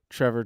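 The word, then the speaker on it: Trevoh: had no idea that Trevor chalobah is not actually Trevor chalobah it's trevo do people know this are you aware of this his name is trevo trevo I suppose if if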